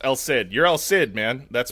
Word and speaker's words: El Cid: That's how they pronounced it in the movie. There's not even an attempt to be like Alai or like it's just El Sid.